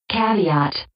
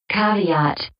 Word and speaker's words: caveat: a good point also here's the number one pronunciation of caveat caveat and then here's number two caveat I think you prefer